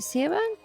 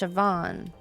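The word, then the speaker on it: Siobhan: us back to the hallway from earlier see seean it's pronounced sioban what a menacing name says here that she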